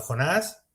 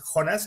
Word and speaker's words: Jonas: A partir de ahí regresa Jonas, que no Jonás ni Jonas, es Jonas, que es como se pronuncia en en noruego, que no es que